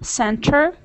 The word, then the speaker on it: center: Like interview, center, internet. Oh, okay. Yeah, so you just when this T comes after N, you drop this T and it's pronounced like interview, internet, center. Is it right?